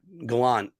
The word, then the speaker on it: Gallant: and yes better than Gallant and yes I have to raise my eyebrows whenever I say his name gallons when you say it like that Galant just rolls right off but you know and